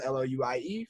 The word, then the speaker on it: Louis: Louis spelled Louie from Oakland.